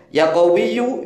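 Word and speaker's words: يَا قَوِيُّ: yau sebanyak tu kali Perhatikan cara membacanya yaqowiyu yunya dibaca ya matinu nya juga dibaca yaqowiyu ya Ya kalau dibaca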